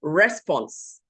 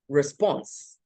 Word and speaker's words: response: And then we hear people say response. And it is, in fact, response. Okay?